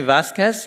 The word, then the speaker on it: Vasquez: And we have now with us Vasquez. Is this correct, how I pronounce it? Yes, Vasquez from AlmaLinux OS Foundation.